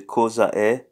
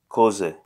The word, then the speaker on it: Cos'è: And if we have two vowels, it's not like nice to say cosa e. They tend to make a contraction here. Cose.